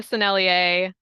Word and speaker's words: Sennelier: I always have to think before I say that, so I pronounce it correctly. This is the Sennelier Primary Red.